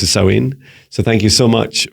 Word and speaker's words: Samhain: So happy Halloween, happy Samhain, Samhain, as it's pronounced as Samhain.